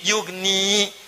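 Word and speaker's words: يغني: Ya-nya dibuang. Padahal asalnya bisa dibaca begini. Yugni. Tapi karena ada in, ya-nya dibuang. Jadi yugni, cepat. Ada ya, bacanya panjang. Yugni. Tidak ada ya, baca cepat. Yugni.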